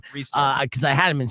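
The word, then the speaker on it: Rhys Darby: Rice Darby. Yeah. Well, it's actually Reese is how you pronounce his name. Reese Darby.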